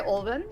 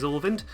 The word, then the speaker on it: Ulvind: 100% easy, ran by Ulvind. I am sorry if I mispronounced that. But yeah, good luck on the run and have fun. Yeah, you didn't. You actually pronounced it correctly.